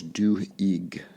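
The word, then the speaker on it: Duhigg: Habit uh which is I think by Charles du EIG is how you pronounce his name uh it is a fantastic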